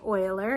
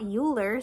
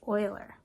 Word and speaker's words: Euler: helpful for you to know that this is pronounced Euler and not Euler so when you're standing in front of all